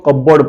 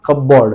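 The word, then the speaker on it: cupboard: ध्यान से देखिए कबर्ड लोग इसको कबर्ड पढ़ते हैं कबर्ड नॉट कपबोर्ड इट इज कबर्ड that means यहां पर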